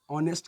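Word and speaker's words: honest: आएगा, ना कि इस ऑनेस्ट के लिए आएगा। ये प्रोनाउंसिएशन होगा सर कि ही इज एन ऑनेस्ट बॉय हो सकता है। अब इसमें एन लगा सकते हैं क्योंकि इसका उच्चारण अ से हो रहा है, लेकिन उच्चारण भले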